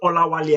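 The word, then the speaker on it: Olawale: My name is Olawali actually right? So so imagine the there is a W A L E there whale right but that's not the pronunciation the next thing I just had chief then whales.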